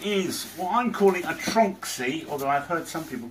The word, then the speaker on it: Tronxy: why I'm calling a trunk see although I've heard some people call it a Tron XY which doesn't make sense it's all one word and crease the pronounce